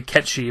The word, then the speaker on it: Cait Sith: I know it's supposed to be Ketchi, but I'm going to call him Cait Sith for the sake of this video.